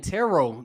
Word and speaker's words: tarot: ] wrong I've been pronouncing the T at the at the end of the world I've been saying ter it no one ever bothered to correct me I've been saying Terror they were saying tarot the whole movie I'm like bro I've